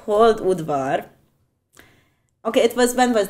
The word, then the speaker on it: Hold-Udvar: also sometimes occasionally and enjoy Europe okay it's pronounced hold wood bar okay it was when was that I think